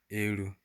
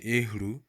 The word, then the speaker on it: elu: So you see that the H kind of goes silent. So it's elu. Some people used to say ehru, but it's better you pronounce elu.